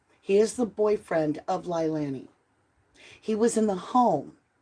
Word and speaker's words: Leilani: He is the boyfriend of Lilani.